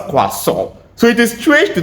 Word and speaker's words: croissant: It is pronounced quasau. So it is strange to think that you have a lot of letters there that are just useless. So the word is pronounced quaso and is a next on my list is this.